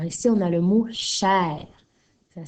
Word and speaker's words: cher: Alors, tu as vu que chair, hein, c'est un hors-la-loi, puisque d'habitude, le E-R à la fin d'un mot fait le son E, mais pas dans ce cas-ci.